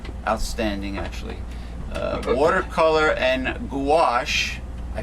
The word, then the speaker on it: gouache: a an excellent outstanding actually uh watercolor and gouache i pronounced it right this time why which is